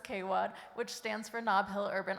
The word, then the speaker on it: KWAD: It says also known as Kwad, pronounced as Kwad, which stands for Knobill Urban Arts District.